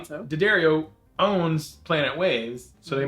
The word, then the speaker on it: D'Addario: D'Addario, which is the proper pronunciation.